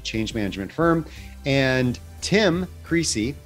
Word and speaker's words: Creasey: management firm and tim creasy not greasy that was his name